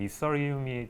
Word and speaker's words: Ethereum: 이시리움이요? 네네. 사실 좀 영어 발음으로 하면은 이서리움이 좀 더 가까운 발음이고 그러니까 굳이 이렇게 직역을 하자면은 이시리움이 좀 더 비슷한 느낌이긴 해요.